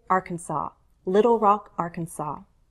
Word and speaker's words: Arkansas: Arkansas's I actually saw in the dictionary Arkansas as a possible variation I don't hear that much but apparently it exists I say Arkansas Little Rock Arkansas Baton